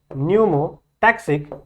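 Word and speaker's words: pneumotaxic: कहते हैं, that is न्यूमोटैक्सिक centre. इतनी बातें क्लियर है। ठीक है, इतनी बातें क्लियर है, समझ में आ रहा है। न्यूमोटैक्सिक, ठीक है, पी साइलेंट है यहां पे, स्पेलिंग आपको सही होनी चाहिए, पी साइलेंट है।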